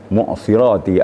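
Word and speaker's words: المعصرات: Mu'sirati artinya awan. Mu'sirati. Jangan sampai sodnya jadi sin. Kalau sod jadi sin artinya sukar artinya.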